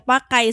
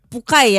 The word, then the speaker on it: Puckai: Tadi di awal kita sempat nanya dulu, ini bacanya apa sih Kang, Pukai atau Pakai? Sebenarnya Pukai ya. Pukai. Walaupun maksudnya ke pakai.